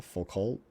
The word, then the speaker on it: Foucault: line I think of Foucault Foucault for cool its I just looked at Foucault it's that but I would think you wouldn't pronounce the T at the end if it's friendly phone